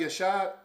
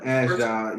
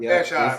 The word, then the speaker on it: Ashdod: Was Maccabi Ashad? Is that what it was? Ashdod, yep. Ashdod, okay, that's how you say it, okay.